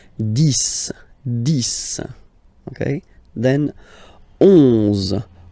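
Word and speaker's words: dix: 10. Okay, so remember, final X here is pronounced like S. 10.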